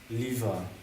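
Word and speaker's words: livre: Lever.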